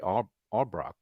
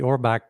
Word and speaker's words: Orbach: Treat Williams we have Jerry orock I think that's how he say his name Jerry he was Jerry Orbach yeah Orbach he played Gus leevy